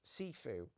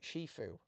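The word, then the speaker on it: 師父: Master, like a martial arts master, is pronounced Sifu. But technically, and it depends on regional dialect, it's also Shifu.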